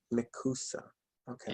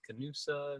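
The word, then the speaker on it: Nekoosa: It's called Nakusa. Nakusa. Okay. Yes. You pronounced it right the first time. A lot of people don't. They're like Canusa, Nanusa, Nakusa.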